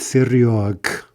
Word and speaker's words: серёг: Stress shifts back to backwards to the opposite syllable. У меня нет серёг.